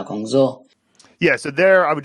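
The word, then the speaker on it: 工作: and also 去找工作. He said 工作, right? 工作, right? That's a first tone, fourth tone is a pretty common tone pair to sort of mess up in a sentence.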